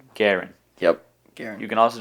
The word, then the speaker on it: g3urin: There is a three in my name. Probably throws you off. Garen. That's how you say my name. Garen.